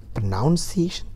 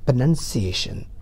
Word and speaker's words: pronunciation: is pronunciation i'm sorry the word is not pronunciation it's pronunciation please not it is pronunciation